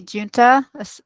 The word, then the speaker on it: Junta: My name is Junta, pronounced like the month June.